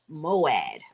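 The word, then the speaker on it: Moad: what is it called it's called the Moab spell that m-o-a-d moed okay I haven't seen one of those yeah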